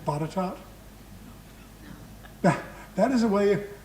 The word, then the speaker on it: Botetourt: Would you have known to pronounce his last name Botetourt?